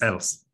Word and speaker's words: Else: No, it is Else. Else, okay. Yes, Else, yeah. That's the correct way of pronouncing it.